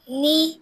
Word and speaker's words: knee: Knee. नी में क्या silent होता है? K.